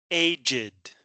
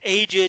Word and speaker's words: aged: to pronounce this the Aged you have to pronounce the E the Aged um other